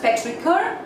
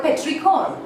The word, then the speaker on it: petrichor: This word is either pronounced as petrichor or petrichor. Petrichor or petrichor. Okay, now both these pronunciations are equally acceptable.